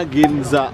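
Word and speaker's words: 銀座: Ini bacanya Ginza ya. Ini Ginza ini nama tempatnya.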